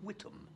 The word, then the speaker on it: Whittam: It's not Mr. Impaler, in fact. In fact, it's Mr. Whittam. Howard Whittam. With a silent H.